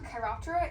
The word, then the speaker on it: Chiroptera: Chiroptera is the scientific name for the order of bats.